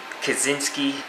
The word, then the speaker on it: Kaczynski: Mitch Kaczynski, I finally got it right. Don't pronounce the C.